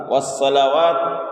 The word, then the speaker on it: والصلوات: التحیات للہ والصلوات والطیبات، والصلوات والطیبات، والصلوات یہاں پر سین ادا کرتے ہیں تو یہاں پر صاد ہے، والصلوات والطیبات یہاں پر